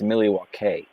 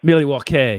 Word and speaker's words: Milwaukee: Another little known fact is it's actually pronounced Milwaukee. Milwaukee, yes. Sorry, yes. Milwaukee.